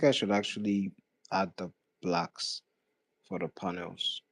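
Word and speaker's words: 6LACK: So there's no like pronunciation for the name, you know, like there's this artist called uh Black, but the way he writes his name is 6 L A C K.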